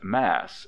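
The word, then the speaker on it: Mass.: we wrote lennox mass she pronounced it not massachusetts but mass as is not infrequent in the east thank you she said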